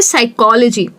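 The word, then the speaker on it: psychology: यूज़ करते हैं, तो वो हो जाता है साइकोलॉजी।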